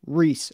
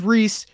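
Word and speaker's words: Ries: different podcasts i found different interviews it is pronounced reese and i am 100 confident in that um i apologize but i really wanted to make sure i got this name right um so it is rhys it's spelled rise but it's pronounced rhys i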